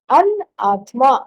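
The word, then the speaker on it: अनात्मा: You just negate the I. An-atma. An is the negative particle. In Sanskrit, whenever it starts, the word starts with a vowel. So, Atma, Anatma.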